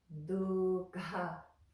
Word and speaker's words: duḥkha: And dukkha, you have that ka, the kh, ka, and the behind the front teeth.